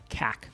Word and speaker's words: CAC: to acquire a customer it's often pronounced cac this number you want